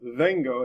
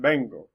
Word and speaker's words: vengo: So like this word right here, instead of being pronounced vengo, it's pronounced bango.